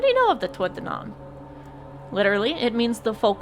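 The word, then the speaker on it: Tuatha Dé Danann: Tua donan is how you pronounce it. He's the only one I haven't talked to about it. What do you know of the tuanon?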